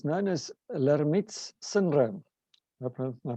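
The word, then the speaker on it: Lhermitte: it every so often and it's known as laramie's syndrome my pronunciation is correct on that one this syndrome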